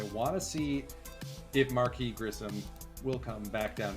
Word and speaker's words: Marquis: and actually look up what is the correct pronunciation of his name let's start there Marquis okay so it is Marquis yes the speed is ridiculous for Marquis but